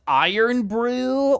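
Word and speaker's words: Irn-Bru: um it's not orange oh it's pronounced iron Brew well add some [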